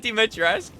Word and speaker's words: Dimitrescu: It is Dimitrescu.